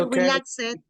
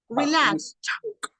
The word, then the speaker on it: relaxed: it you don't say relax it you say look no no justice listen up we don't say look at no we say look relaxed stopped it's like a t okay okay do it